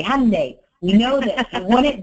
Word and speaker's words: Hyundai: pronouncing your Hyundai dealership Hyundai it's Sunday Monday Hyundai we know this you